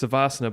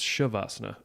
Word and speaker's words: Savasana: Well, no, because I say it's Savasana, but then what's Shavasana? Is that something? That's just the same thing. People just pronounce differently.